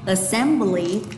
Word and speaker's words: assembly: Assem và bly đi xuống. Vậy cả từ cô sẽ đọc như sau nhé. Assembly, assembly, assembly, buổi sinh hoạt.